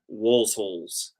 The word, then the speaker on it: Waelzholz: It's called Walsholz. It's German. It's WAELZHOLZ. It's pronounced Walsholz.